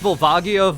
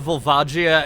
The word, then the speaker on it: Volvagia: I've heard it pronounced Vulvagia, Vulvajia, and a third way from Lucagen's Let's Play. And to be honest, I've always just felt like Volvagia sounds better than Volvia.